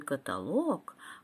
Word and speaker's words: каталог: с ударением на ту каталог ударение в слове каталог падает всегда на третий слог жалюзи поскорее привези